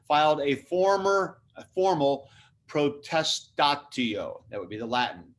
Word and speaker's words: protestatio: that i'm circling filed a former a formal protest tattio that would be the latin p r o